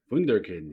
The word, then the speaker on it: Wunderkind: Oh man, but yes, Das Wunderkind. Am I pronouncing that right? Wunderkind, yeah.